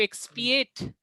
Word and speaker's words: expiate: X capital में है, inverted comma है ऊपर, तो इसको आप जोर से प्रोनाउंस करेंगे एक्स। फिर जो बाद के जो वर्ड्स हैं वो थोड़े से धीरे प्रोनाउंस होंगे। एक्सपिएट, एक्सपिएट, एक्सपिएट, Expiate. यस एक्सपिएट। Expiate. Expiate. एक्स नहीं, एक्स नहीं, एक्स, Expiate.